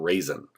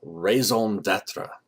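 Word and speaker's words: raison d'être: it's pronounced in French you don't pronounce the in in raison it's not raisin so the raison datra the purpose the the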